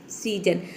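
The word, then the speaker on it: season: जब किसी वर्ड में एस के दोनों तरफ अगर वावल हो तो एस को हम ज प्रोनाउंस करेंगे, जैसे कि सीजन। सीजन में देख सकते हैं कि एस के दोनों तरफ वावल है।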